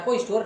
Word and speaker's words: cache: इसके अलावा मेमोरी के अंतर्गत हम बात करेंगे आज कैश मेमोरी के बारे में। कैश मेमोरी को कासे मेमोरी या कैश मेमोरी या कैश मेमोरी भी कहते हैं। इसकी स्पेलिंग होती है CACHE।